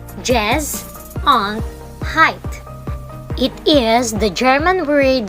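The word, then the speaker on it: Gesundheit: that is a funny looking word which is pronounced jazz on height it is the german word that wishes someone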